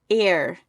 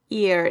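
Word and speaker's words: Eir: So e i r air. Yeah. Air got air ear air.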